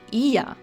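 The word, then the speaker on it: Oia: A great alternative to going up to Fira is local boats can also take you to Ia. Yes, it's spelled O-I-A. We were confused at first too.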